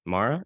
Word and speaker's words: Mara: So, this special person is Patti Mara. Is that how you pronounce the last name?